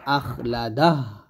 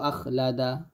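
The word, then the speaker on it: أخلده: তবে হার উচ্চারণটা আমরা সঠিকভাবে আনি না, বা সঠিকভাবে উচ্চারণটা বোঝা যায় না, স্পষ্টভাবে আনতে পারি না। তো অবশ্যই আপনাকে স্পষ্টভাবে আনতে হবে। আমরা এরকমভাবে বলি, ইয়াহসাবু আন্না মালাহু আখলাদা, এই যে আখলাদা, এরকম বললে কিন্তু হবে না, বলতে হবে আখলাদাহ, এরকম।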